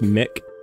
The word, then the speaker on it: MC: MC is pronounced Mick.